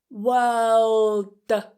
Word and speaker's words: world: we have "world". "I'm releasing it as a D. Holding. Not wor-la-da.World.World. So a word is a single unit of language that has meaning.